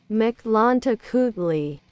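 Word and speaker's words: Mictlantecuhtli: Pronunciation. That's what I want. Okay. So... Mictlantecutli. Mictlantecutli. Mictlantecutli. Okay, Mictlantecutli.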